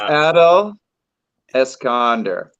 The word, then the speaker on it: Adele Escalander: It's Adele Escalander. So you got to put the accent on the first syllable.